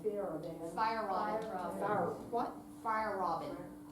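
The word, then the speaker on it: Feierabend: Fire Robin. Fire. What? Fire Robin. Like fire and then Robin.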